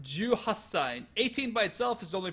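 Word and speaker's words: 十八歳: This is 18 sai, but it's pronounced juasai. 18 by itself is only pronounced juachi. Juhati, but because the ch is a hard sound, and then sai has a nice closed mouth sound.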